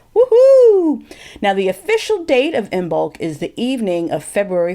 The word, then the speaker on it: Imbolc: and I want to wish everyone a happy in bulk now people are wondering what's in bulk well at least some of you and in